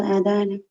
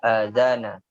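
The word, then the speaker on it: الأذان: Sami'tumul adana. Sami'tumul adzana. Jadi jangan ragu-ragu kita membaca harokatnya ya.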